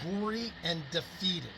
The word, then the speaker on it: Gorre and Daphetid: modern day founding father he his layout the Goran defeated it's pronounced gory and defeated it it's phenomenal phenomenal look it up online